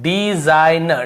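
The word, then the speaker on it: design: न के पहले जी एन के पहले जी तो देखिए डिज़ाइन हमेशा क्या पढ़ रहे हैं डिजाइनर डिज़ाइन तो डिज़ाइन ऐसे नहीं पद रहा है ठीक है केवल डिज़ाइन यहां पर भी रिजाइन रिजाइन यहां पर रिजिन ऐसे नहीं पढ़ रहे घर को नहीं पद रहे यहां पर भी सिन नहीं पढ़ेंगे साइन पढ़ेंगे ठीक है ऐसे सिन ऐसे नहीं पढ़ना है हमको साइन ही पढ़ना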